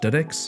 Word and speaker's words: DX: I wound up at dedex it's uh spelled DX pronounced dedex MH it's a company